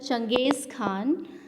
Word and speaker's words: Genghis Khan: The Mongols under Genghis Khan, in Hindi we can pronounce it Changiz Khan, invaded Transoxiana in northeast Iran in 1219, and the Delhi Sultan faced their onslaught soon after.